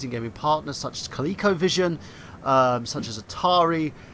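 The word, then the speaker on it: Coleco: gaming Partners such as kico Vision um such as Atari such as thank you for saying it correctly by the way B and thank you for saying it correctly cuz you normally say Cleo right such as um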